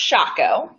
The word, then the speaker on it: Schackow: little background story so my last name first of all is pronounced shot go ah oh but it's